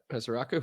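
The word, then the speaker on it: Ezeiruaku: Was it Ezaraku? You got it. Ezaraku. Yep. See, that's a name that's spelled uniquely, and for that, I have to say it uniquely.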